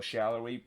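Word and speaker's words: Salloi: fixed the pronunciation and the correct pronunciation is daniel shallowy but the fact that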